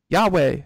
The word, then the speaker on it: Huawei: Huawei. Yahweh.